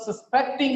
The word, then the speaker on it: suspecting: The police are suspecting on this person. Suspecting is a verb here. The stress is on second syllable.